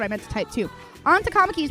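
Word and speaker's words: Ann: know maybe maybe I was putting that wrong and go oh okay cool like uh I'll tell you a real example uh on that's what I meant to type too onto is pronounced onto if you ask me to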